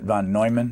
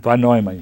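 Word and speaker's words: von Neumann: shever again recruited him for the program you pronounce it van noyman van noyman yeah let me read ah had here they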